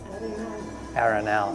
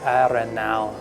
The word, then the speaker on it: Arenal: It's called El Arenal Market and Arenal. Arenal. You gotta pronounce it like a Spanish person. Okay, it's called El Arenal.